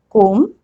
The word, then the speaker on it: comb: Lim, crumb, dumb, num, thumb, comb, bomb, tum, climb. Have you noticed a pattern? Whenever there is M and B together at the end of the word, I am not pronouncing B.